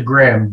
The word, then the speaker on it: Gramm: into radio uh uh i was pronouncing your name wrong i mean i know it's lou graham now because i mean you're